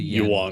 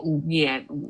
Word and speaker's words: yuan: The yuan. It's not yen. How you say it? The yuan. Yuan. No, the yuan. Yeah, Yeah, not yuan. not the yen.